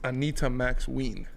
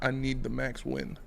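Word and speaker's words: Anita Max Wynn: it's Anita Max Ween. Not I need the Max win. No, I'm pretty sure he's the max win. That's how you say it.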